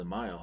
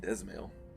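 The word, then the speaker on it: Dzemael: son of house zamayo oh that's pronounced as a mile I've been saying I've been saying dismal this is a mile okay so the D silent how quickly we forget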